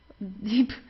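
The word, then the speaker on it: tief: yeah they're deep uh also the B it's not pronounced very strong so it's not de or so it's deep sounds more like a p at the end okay the Deep Thea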